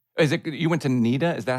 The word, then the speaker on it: NIDA: theater in australia is it you went to nida is that how you say it and idea the national not yeah nida yeah which is a national institute of dramatic